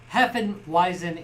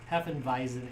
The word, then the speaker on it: Hefeweizen: right anyways yazu handcrafted Heen wisen air ale uh vison right it's V when it's spelled like that yeah Heen visen ale no snakes or